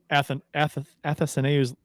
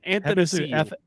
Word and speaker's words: Athanasiou: Yeah, Athanasiou. Athanasiou. And got it. And no, it's Ath. Athanasiou. No, there's no and.